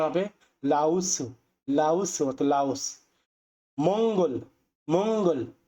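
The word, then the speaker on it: 라오스: ছুরি রাঙ্খা সুরিরাঙ্খা অর্থাৎ শ্রীলঙ্কা সুরিরাঙ্খা অর্থাৎ শ্রীলঙ্কা লাউসু লাউসু এখন আপনারা বলতে পারেন যে এটাকে আপনে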